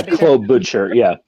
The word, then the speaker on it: Klobuchar: But Amy Klobuchar, is that how it's pronounced? Yeah, Klobuchar.